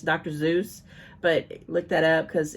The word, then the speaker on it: Seuss: Seuss's, which actually it's Dr. Zeus. But look that up because it's not pronounced Seuss. It's actually Zeus, and I actually looked that up and I confirmed that.